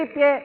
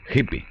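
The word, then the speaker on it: hippie: Recuerden, se escribe hipie y se pronuncia hipi. Se escribe hipie, pero se pronuncia hippi o hippi. Bueno, o hippi.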